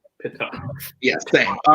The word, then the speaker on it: Pitof: It is Pitoff. That is correct for 1 point. I believe it's pronounced Pitoff.